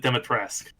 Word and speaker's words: Dimitrescu: So the shopkeeper pronounced it Dimitrescu, and I can't do the French accent he does, but that's like the pronunciation.